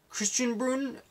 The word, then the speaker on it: Christian Springs: He lived in a town called Christian Springs, which the pronunciation they used was Christian Spruun.